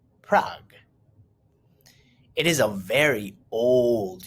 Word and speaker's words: Prague: The capital of the Czech Republic is Prague, pronounced Prague.